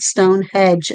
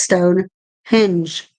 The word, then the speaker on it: Stonehenge: henge I know people pronounce that wrong it's not Stone Hedge it's Stone hinge so what do you